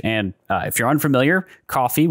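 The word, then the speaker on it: Ko-fi: we recently launched a coffee page and uh if you're unfamiliar coffee which is spelled k-o-f-i is a platform kind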